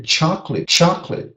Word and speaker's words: chocolate: Chocolate. 2 syllables, not 4 like in Portuguese. And 8 sound. The ATE at the end sounds it.